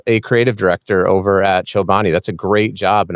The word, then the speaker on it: Chobani: wait wait wait wait is it Chobani or chabani how do you say it oh I say chabani Chobani yeah I say cho